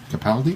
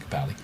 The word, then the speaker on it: Capaldi: Capaldi? Yeah, they pronounce it Capaldi. The hell? Scottish.